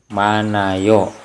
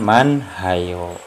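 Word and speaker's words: 많아요: yang pembahasan sekarang yaitu apabila bacem hiat bertemu yang maka ia tidak berbunyi Hai nah ini hiat ini bertemu dengan yang maka head ini tidak berbunyi penulisannya tetap seperti ini tulisannya tetap hanya saja ini tidak dibaca ya tadi dibacanya itu seperti ini mana yo Saya ulangi dibacanya tuh mana yuk bukan Man hayo Ya paham hai hai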